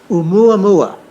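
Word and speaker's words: ʻOumuamua: Oumuamua is how you pronounce that one.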